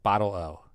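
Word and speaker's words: bottle-o: like this idea okay this week's word is boto pronounced yeah bottle I said it right bottle o it's spelled b o tl- o pronounced okay that's what I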